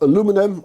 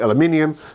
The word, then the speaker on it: aluminium: alen bolt two strips of aluminum or aluminium let's call it aluminium uh uh at the width of my router base and on the back there are two angle pieces also aluminium uh which I can